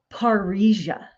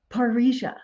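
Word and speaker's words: parrhesia: Master there is an ancient Greek word called paria it's spelled p a r r h s i a paria and so what this word means is to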